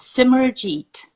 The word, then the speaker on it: Simerjeet: I'm good can you tell me how to pronounce your name I want to make sure I'm saying it right it's summer Jeet I'm so excited this is gonna be so